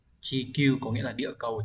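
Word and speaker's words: 地球: Chúng ta có chữ địa sẽ đọc là chi trong từ chi đi, địa lý đấy. Chữ cầu đọc là kyu, như vậy chúng ta phải chọn đúng là số 2.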